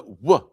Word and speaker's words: vav: A vav is pronounced as a wa like the tear. The tear it's a vav is a w. It's not a v.